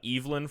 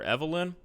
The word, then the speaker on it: Evelyn: Eivelyn, not Evelyn. What the is going on with this game's pronunciations? First, we have Anastasia for Anastasia. Now, we've got Eivelyn for Evelyn. Eivelyn. I have never heard it pronounced that way.